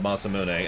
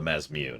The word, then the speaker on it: Masamune: Or the Mazmune, as I like to call it. And people are like, that's not how it's pronounced. And I'll say, that's how my sword is pronounced.